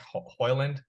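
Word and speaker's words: Højlund: and it was like, I think it was almost like a silent D, and when you actually pronounce it.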